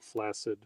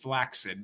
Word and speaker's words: flaccid: Uh uh and uh Atomic Elf always pronounces it flaccid as well. I mean, that's all how that's always how I've pronounced it, but I I wouldn't be surprised were it not pronounced flaxid because it would I